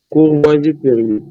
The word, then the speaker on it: Courvoisier-Terrier: Pronuncia aqui, sinal de? Courvoisier-Terrier. Como é? Courvoisier-Terrier.